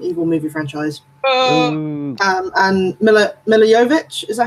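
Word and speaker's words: Milla Jovovich: behind the Resident Evil movie franchise and milla milla yo vich is that how you pronounce her name yes so know that she's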